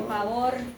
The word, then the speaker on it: favor: Okay, but if you can. Okay, let's try it. Favor. Favor. Try to roll.